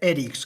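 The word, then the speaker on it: Érix: a bordo, la SGP Erix con tilde, no Erix, que se pilla un poco mejor ahí el guiño del nombre con la pronunciación original.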